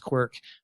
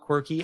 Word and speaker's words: Qwerke: And so the pronunciation of it, I always have to kind of put in parentheses, pronounced Qwerke, because people will call it quirky, and that's okay.